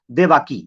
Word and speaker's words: देवकी: उसकी एक बीवी थी, जिस बीवी का नाम था देवाकी, या देवकी उसे कह सकते हैं, ये देवकी कह सकते हैं, ये देवाकी कह सकते हैं, ऐसी तरह प्रोनाउंसिएशन है, देवाकी या देवकी।